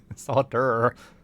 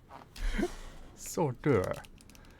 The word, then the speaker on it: solder: Solder. Solder. It's like hors d'oeuvres.